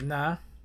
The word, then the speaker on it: Na: The next letter is the Na, which numerical value of the Na is 50, and the pronunciation is Na.